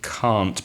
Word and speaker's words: can't: It's difficult to hear when it's the positive can and the negative can't, because native speakers don't pronounce the t at the end of can't, which is cannot.